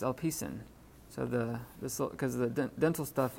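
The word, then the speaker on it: ἐλπίσιν: So instead of L P sin, it's a signal right there, but instead of LP, it's hard to pronounce that together. Alpidsin. Well, it's Alpicin.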